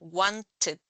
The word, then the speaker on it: wanted: termina con t los los que terminan con t o d se pronuncian con it al final Wanted por ejemplo Wanted decided